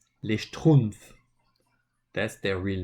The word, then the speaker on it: les Schtroumpfs: This is pronounced les Schtroumpfs.